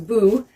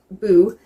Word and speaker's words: Bo: the internet um and his name was boo because they pronounce a bow because it was just b-o boo in Swedish and he was like